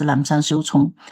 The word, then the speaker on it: Lapsang Souchong: So 正山小种, that is in Chinese pronunciation, but I think in English probably pronounced as Lapsang Souchong.